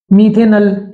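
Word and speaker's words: मेथनल: मीथेनल, नल, ऑल नहीं। अल और ऑल में बहुत अंतर है।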